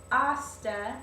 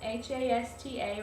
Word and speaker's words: hasta: through all of those just know that hosta h-a-s-t-a remember you never pronounce the h in spanish hasta literally means until